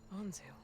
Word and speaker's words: Anzu: Anzu. rhymes with Ponzu.